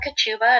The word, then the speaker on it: Kochuba: my name is ketubah and I do pronounce it like a sneeze Thank You and